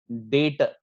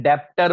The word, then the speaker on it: debtor: कुछ लोग यहाँ पे स्पेलिंग मिस्टेक करते हैं या प्रोनाउंसिएशन का इश्यू है। क्लियर? इसको हम लोग क्या बोलेंगे? डेटर। कुछ लोग क्या करते हैं? डेप्टर वर्ड यूज करते हैं। डेप्टर वर्ड नहीं है, इट इज योर डेटर।